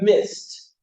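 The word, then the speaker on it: missed: relaxed or mix mixed Miss would turn to mist okay because those ended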